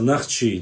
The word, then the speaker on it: Нахчи: И что касается Нахчи названия, это наше древнее название, и на горных диалектах правильно говорить более древнее название, это Нахчи через А. Современно, литературно, через О в основном происходит название.